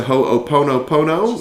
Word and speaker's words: Ho'oponopono: She introduced me to Ho'oponopono.